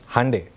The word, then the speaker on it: Hyundai: Hyundai या जैसे कई अमेरिकन कंट्रीज़ में Hyundai भी बोलते हैं उसको, आप लोग क्या प्रोनाउंस करते हैं? Hyundai।